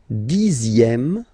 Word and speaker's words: dixième: Le dixième, so remember, even if you've got this X here, you pronounce it Z.